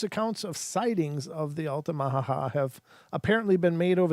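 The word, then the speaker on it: Altamaha: weird name this is alamaha ha alamaha ha and it's spelled a l t a m a ha A- ha so it's the Ala Maha I'm sorry I'm not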